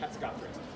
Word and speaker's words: Hatzegopteryx: It's got that silent P in there. E-R-Y-X. E-R-Y-X. Yeah, that's right. Hatzegopteryx.